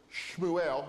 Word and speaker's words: Shmuel: Um, and then Samuel would have been Shmuel. Everyone seems to agree that Shmuel was the correct pronunciation of that, but that's another name that's entered into English as Samuel.